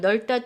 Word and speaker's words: 넓다: 그래서 이 두 가지 항상 넓다는 넓다가 아니라 넓다로 발음을 해주세요.